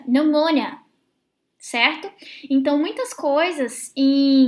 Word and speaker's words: pneumonia: Mas, por exemplo, se você estiver escutando uma aula, talvez você não associe a pronúncia a essa palavra, porque se pronuncia pneumonia, certo?